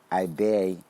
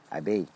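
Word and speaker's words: Ebeye: a contingent of Marshallese to his brother in Ibe, the country's second most populous area. Ibe is spelled E-B-E-Y-E, E-B-E-Y-E.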